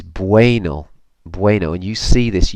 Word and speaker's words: bueno: and a reminder that when you see the UE combination in words in Spanish it's like W a Y so this is bueno bueno and you see